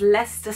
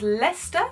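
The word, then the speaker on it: Leicester: know that you know it can be pronounced Lea or leer or le le leester Square all of these I'm pretty sure is Lester Square let's just check my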